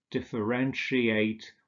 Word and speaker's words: differentiate: And finally, we have words like differentiate, where we have the sh sound, negotiate, initiate, also etwas beginnen, initiieren, satiate, etwas sättigen.